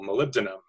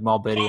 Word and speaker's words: molybdenum: actually need the mineral molybdenum for ceruloplasmin that's always saying what I said that's how you say I would I always pronounce it wrong I'm like mall Biddy um I don't know